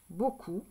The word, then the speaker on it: beaucoup: attention ici beaucoup d'accord beaucoup c'est un mot photo on n'entend pas le P mais on doit le mettre beaucoup ça s'écrit B